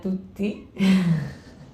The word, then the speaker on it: Tytti: e r g r Perfecto entonces aunque se pronuncia Tutti se escribe Titi Así que Pero bueno con